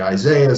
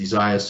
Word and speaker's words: Isaias: Some people say Isaiah, some people say other things. The Weather Center sent me a note that says Isaias, so I must stick with that.